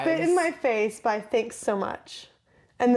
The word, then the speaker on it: THXSOMCH: Spit in My Face by Thanks So Much. And the way the artist is spelled is THXSOMCH. No vowels.